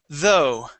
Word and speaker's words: though: nice job okay um this word right here is though though though okay practice that th sound okay instead of do it is though that's it good job